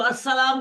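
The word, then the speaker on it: السلام: य इस्लाम होता है अगर इसको अ सलाम करना हो तो फिर अलिफ लाम लगाना पड़ता है लाम साइलेंट हो जाता है बट लिखना पड़ेगा अगर आप लिखेंगे नहीं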